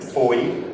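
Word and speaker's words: Fowey: and you've traveled up all the way from Foy, which is spelled F O W E Y by the way.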